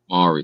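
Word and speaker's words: Māori: Mori.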